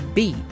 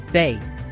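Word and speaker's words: Bea: with either Greg or B, who I kept mispronouncing as Bay.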